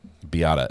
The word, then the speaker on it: Beata: all the pronunciation guides biata beata okay thank you I appreciate the uh the easy she says it's pronounced like Mazda Miata um so biata is her name okay hopefully that cut